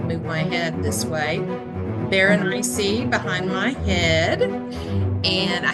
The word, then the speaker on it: Berenice: They were doing a recitation of it, and they said just rhyme it with something spicy, Berenice, something spicy.